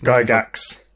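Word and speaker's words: Gygax: i believe he says guy gax you pronounce the x yeah uh he's said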